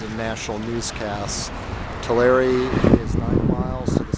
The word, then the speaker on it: Tulare: the other way that's how you say to larry not talar to larry it's often mispronounced in national newscasts tulare is nine miles to the south bakersfield is